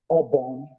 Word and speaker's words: obon: because if I'm saying Obon, Obon, do, ti, obon, do, ti. That do, ti will guide you to pronounce obon, which means God. But if I write do, so, obon, that will sound mosquito.